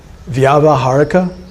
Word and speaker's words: Vyavaharika: How do you pronounce that again? Vyavaharika. V-Y-A-V-A, Vyava, H-A-R-I-K-A, Vyavaharika.